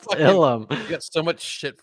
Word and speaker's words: Ilum: You got It's so much pronounced fucking Ilum.